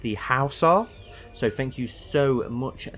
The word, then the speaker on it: Hausa: So it's not the Horsa people, apparently it's pronounced the Hausa.